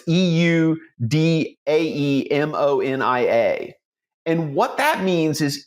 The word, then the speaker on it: eudaimonia: Some people pronounce it eudaimonia. Other people pronounce it eudaimonia. It's eudaemonia.